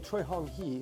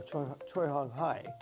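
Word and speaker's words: Choi Hong Hi: So General Choi Hong Hee, or Choi Hong Hai, I've heard it pronounced both ways, who was essentially the guy that named Taekwondo.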